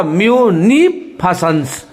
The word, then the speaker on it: munificence: एन के ऊपर लकीर है, इसका मतलब एन पे जोर देना होगा। और ई जब ऊ और एन आए नी, तो एफ के आगे देखिए ई उल्टा लिखा हुआ है, दैट इज यहाँ एस के आगे भी देखिए उल्टा ई लिखा हुआ है, तो क्या हुआ म्यूनिफिसेंस। म्यूनिफिसेंस फॉ अब फॉ को